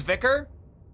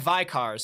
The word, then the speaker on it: Vicar: we hate objective again oh it's vicar ah sorry my bad phonetically it looks like VI cars so thank you vicar